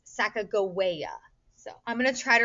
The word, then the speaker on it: Sacagawea: unfortunately through the years many uh people have pronounced this sacagawea even some of my social studies teachers used to do that but we've now learned her name would be pronounced sacagawea so i'm gonna try